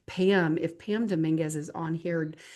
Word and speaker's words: Dominguez: Pam, if Pam Dominguez is on here, Dominguez, sorry, I said it wrong. I found out her name is said like a meringue, Domingue.